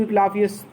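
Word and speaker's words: Asclepius: आई ओ A clock to इक्लाफियस, मुझे इक्लाफियस देवता को ऋण है, एक वो मैंने ऋणी हूँ। इक्लाफियस ये देवता का नाम है, यस साइलेंट है, ए ई से बड़ी ई बनेगा।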